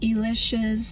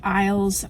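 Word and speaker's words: Illes: As far as witchy texts, my favorites that I use the most are Judika Elish's book. Some people say Judika Isles. I've heard interviews with her and she pronounces her name Elish.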